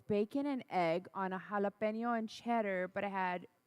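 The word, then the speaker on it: jalapeño: understand the proper pronunciation of the vowels in Spanish, you understand how to pronounce the word properly.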